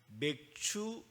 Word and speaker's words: 맥추: 오늘은 한해의 절반을 지나며 하나님께서 베푸신 은혜를 감사함으로 예비하는 맥추 감사주일입니다. 발음을 잘해야 됩니다. 같은 취하돼도 성령으로 취하는가? 다른 음료로 취하는가?